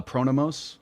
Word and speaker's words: Pronomos: Uh Pronomos.